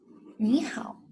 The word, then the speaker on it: 你好: The initial is the final ow, and the tone, the third tone.